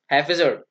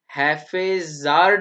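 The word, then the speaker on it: haphazard: अगला वर्ड है हैफेजर्ड। हैफेजर्ड, प्रोनाउंसिएशन सीख लो बच्चों, हैफेजार्ड नहीं, हैफेजर्ड, हैफेजर्ड। हैफेजर्ड का अर्थ होता है अव्यवस्थित, अव्यवस्थित, जो कि व्यवस्थित ना हो, है ना।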